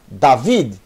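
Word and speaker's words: דוד: D mais A. D, Dalet, mais Kamet. Da. E essa será a tônica, viu? David. David. Kamet, tônica. Acento agudo.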